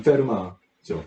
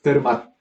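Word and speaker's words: Fermat: 이 페르마는 프렌치예요. 그래서 이 맨 마지막에 T가 있는데 발음을 하지 않습니다. 그래서 페르맛 이렇게 발음하는 사람은 있으면 안 됩니다.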